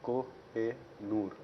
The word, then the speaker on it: Kohinoor: So this is the original way it is supposed to be pronounced also. It's Koh-e-Noor.